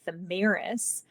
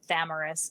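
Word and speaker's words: Thamyris: She has this fiance named Thamiris. Or Thamaris, depending on how you pronounce it.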